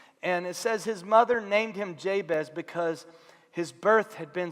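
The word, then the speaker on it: Jabez: childbirth that's kind of the word jay-bez it's a Hebrew word that is very closely phonetically when you produce when you when you say it it sounds like the Hebrew word for pain and so it's like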